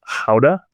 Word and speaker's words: Gouda: This dairy was notable because they were located near the town of Gouda. Don't speak Dutch, but that's the Dutch pronunciation of Gouda. And you think of Gouda cheese that you might buy at the grocery store.